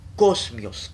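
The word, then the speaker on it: kosmios: decoroso tecoroso el término griego es cosmios cosmios se escribe anote K o smio s k o s m i o s cosmios cosmios decoroso significa ordenado bien dispuesto adornado de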